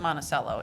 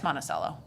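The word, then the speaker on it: Monticello: Iowa y okay we that's Eastern Iowa we pronounce it monacello in Iowa just FYI just I'm I'm from Eastern Iowa it's monacello do you want to have a debate about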